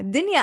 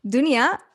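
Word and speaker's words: دنيا: yeah in arabic yeah dania actually dunya or dania you can pronounce it either way um means world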